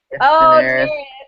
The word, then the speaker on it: Daenerys: It's Daenerys. Daenerys. Daenerys. I think that's how you say it. Yeah, she's Yeah, awesome. Daenerys.